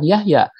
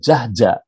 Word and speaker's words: Jahja: Nah, padahal ya nama saya Yahya itu bisa saja saya dilafal oleh anak-anak muda zaman sekarang bukan Yahya, tapi Jahja. Pasti mereka melafalnya Pak Jahja, bukan Pak Yahya, karena tulisannya adalah Jahja.